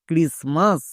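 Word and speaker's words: Christmas: আর আই এস ক্রিস এখানে টি কিন্তু silent আমরা জানি এম এর আগে টি থাকলে টি সাইলেন্ট এবার এম এম এর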